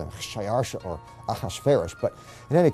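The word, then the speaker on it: Xšayāršā: His Persian name, in Old Persian, which is his original native language, is Shayarsha. Now that was hard for the Jews to pronounce, so they said Ahasuerus.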